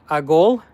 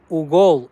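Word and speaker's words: уголь: Agol? Agol? Am I saying it right? Agol? Why does it look like Ugol? How am I saying? Can you... Agol, Ugol? Ugol, Ugol. Ugol. Okay, Ugol.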